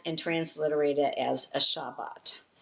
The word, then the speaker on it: Shabbat: And you can hear it even if you say a fast Shabbat. You always hear that first bait. Um you don't go shabbat shabbat. It's shabbat. You can hear it if you when you say it.